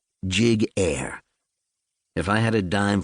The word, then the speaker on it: Giguere: First of all, my last name is pronounced jig air.